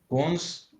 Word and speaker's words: cons: is cons cons right now you pronounced it correctly but while you were saying it you said the whole sentence then you pronounce it with not a C Sound but a sort of like uh there was different sound coming okay okay okay Bon and